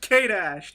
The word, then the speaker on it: K-Dash: You pronounce the dash like you pronounce the hyphen in Spider-Man.